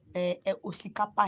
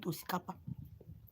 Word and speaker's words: osikapa: So we call it osikapa here in our dialect. Call it osikapa. So osikapa is spelled O-X.